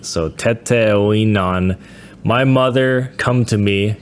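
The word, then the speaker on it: Teteoinan: Tonin. Oh my pronunciation here. Teton. Teton. That's spelled T E T E O I N A N. So tetan my mother come to me come to me.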